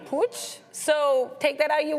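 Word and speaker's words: Puig: It looks like it's actually pooch. So take that out you will. But yeah, I was saying pew yesterday.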